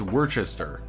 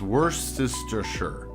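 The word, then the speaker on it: Worcestershire: The part that messes me up with Warcester is I think it's Worchester. Like my brain wants to say Warchester, but it's woristure and then I just sound dumb.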